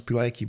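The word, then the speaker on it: Pilecki: of Captain petki so I think you would pronounce pilki but is a p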